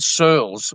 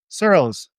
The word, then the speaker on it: Searles: Sirls. Rhymes with girls. Sirls.